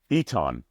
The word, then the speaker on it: Eton: was and then he was Eton, not Aton, Eton.